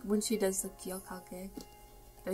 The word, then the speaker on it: 기억할게: I also like when she does the 기억할게. Did I say it right? 기억할게, yeah, 기억할게.